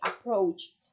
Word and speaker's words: approached: Con t al final, approach. En pasado se le pone la ed y al final debe sonar como una t, approached.